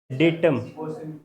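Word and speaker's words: data: Plural, डेटम। हाँ, अभी लगाओ मोबाइल में। ये डाटा ना प्लूरल ही होता है, हाँ, डेटा सिंगुलर होता है। सुनो ध्यान से, ये जो डाटा है इसका सही प्रोनाउंसिएशन डेटा।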